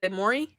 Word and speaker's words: Morty: uux huh your accent you say Morty we British people wouldn't pronounce a T and Morty so what do you say Mauri Mauri as an MA